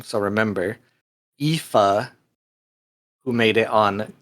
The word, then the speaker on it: Aoife: is how you say the name, so remember, Aoife, who made it on 2 lists. Those 2 were me and Felix, and not Dexter, of course. Felix, what does Aoife do, and why did you pick Aoife?